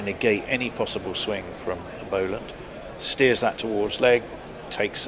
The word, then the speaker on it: Boland: No, Boland has 1 L, therefore is Boland. Completely illogical.